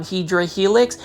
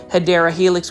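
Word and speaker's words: Hedera helix: hopefully I didn't startle You by saying um hedra Helix that is actually the mispronunciation of hadera Helix which is the correct way of saying it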